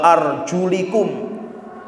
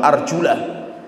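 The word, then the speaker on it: أرجلكم: itu bacanya Dika slogan wa arjulikum bukan wa Arjuna wa arjulikum lkb ini kalau dibaca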